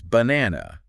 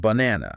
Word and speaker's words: banana: got it so like when you're saying banana yeah it's banana yes not banana that's right that middle syllable it demands attention wants